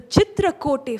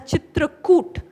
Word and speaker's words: Chitrakoot: I think uh when you pronounce it in Hindi it is also known as Chitrakoot. So either or both pronunciations are accepted.